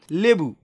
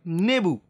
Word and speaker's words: লেবু: তাহলে আমরা বলতে পারি লেবু, লেবু থেকে অনেক আঞ্চলিক ভাষায় এটাকে উচ্চারণ করা হয় অনেকে নেবু। তাহলে খেয়াল করো লেবু থেকে হয়ে গিয়েছে কি? নেবু, অর্থাৎ ল চলে গিয়েছে সেই জায়গায় ন চলে এসেছে।